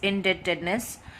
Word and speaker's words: indebtedness: levels of employment indebtedness B is silent re-pronounce at us in debt debt edna's indebtedness then inequalities of income